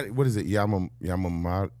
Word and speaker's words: Yamamoto: Yam Yamamo. How do you say it? Stewie. Yamamoto.